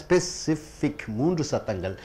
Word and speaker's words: specific: ஸ்பெசிஃபிக் 3 சத்தங்கள். இந்த அட்ஜெக்டிவ்னு வரும்போது ஐசிக்கு முன்னாடி வரக்கூடியதுக்கு உச்சரிப்பு கொடுக்கணும். ஸ்பெசிஃபிக், ஸ்பெசிஃபிக், ஸ்பெசிஃபிக் 3 சத்தப்பங்க. கக்கா க, கக்கா க, கக்கா, அந்த ரெண்டாவது கா கழுத்து கொடுக்கணும்.